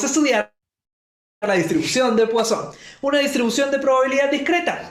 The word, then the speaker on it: Poisson: Se escribe Poisson con doble S, pero se pronuncia Poisson.